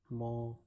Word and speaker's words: mon: So the first sentence is Je dis bonsoir à mon professeur. I said good evening to my professor or teacher. The meaning of this is my, it is pronounced as mo.